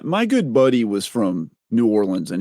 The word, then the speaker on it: New Orleans: good buddy was from New Orleans and he said New Orleans yeah like the not nans right right no there's another syllable in there yeah New Orleans it all flowed together